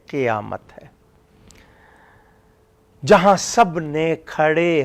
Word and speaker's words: قیامت: تلفظ بھی نہ بدلے۔ قیامت اکثر لوگ قاف کے زبر سے پڑھتے ہیں، قاف کا زیر ہے، قیامت، قیامت نہیں ہے، قیامت ہے، جہاں سب نے